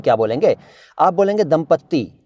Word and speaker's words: दंपति: लोग लिखते और बोलते हैं दंपति और दंपत्ति और दंपत्ति, और भी तरह तरह की स्पेलिंग्स यूज़ करते हैं, लेकिन असलियत में शब्द है दंपति, दंपति, दंपति। द पर बिंदु, प त पर बड़ी ई की मात्रा, दंपति।